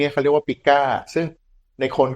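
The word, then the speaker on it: pica: กั้น คอก พิกร พวก นี้ เค เรียก ว่า ปิก้า ซึ่ง ใน คน ก็ มี เช่น กัน ปิก้า เนี่ย สะกด p i K นะ ครับ ปิก้า ปิก้า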